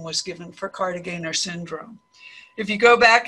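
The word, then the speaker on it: Kartagener: I say Cartagener, some of you may say Cartagener, but Dr. Cartagener pronounced his name Cartagener, so that's why I'm saying it this way.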